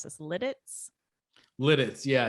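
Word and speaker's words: Lititz: And how do we pronounce this? Lidditz? Lidditz.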